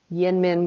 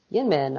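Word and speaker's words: YInMn: story though so um have you heard of yin min blue gin min blue no so it's spelled y-l-n-m-n that's a that's an acronym for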